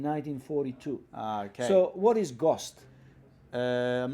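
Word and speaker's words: ГОСТ: I should say that's GOST in Cyrillic. Yeah. It reads to me R-O-C-T, but it's pronounced GOST.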